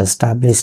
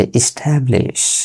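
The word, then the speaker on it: establish: এস্টাবলিশ বলি, এটা এস্টাবলিশ না, এটা এস্টাবলিশ।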